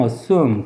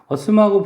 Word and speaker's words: assume: 다음에 가정하다라고 하는 단어가 assume인데 assume이라고 발음하지 말고 미국식 발음 assume. 그리고 assume하고 비슷한 뜻으로 가정하다일 때는 presume이라고 하는 단어도 있어요.